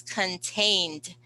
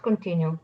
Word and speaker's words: contained: Okay, next word is contained. Contained. Contained, it's continued. No, it's not continued. Contained to keep with With, limits.